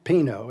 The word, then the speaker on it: Pinot: that's okay assuming that the Pinot is that how am I saying it right yes okay assuming that the